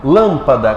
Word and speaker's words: lâmpada: Lâmpada, qual é a mais forte lâmpada? Lâmpada, mais forte é o lã, ou seja, a antepenúltima sílaba, cômoda.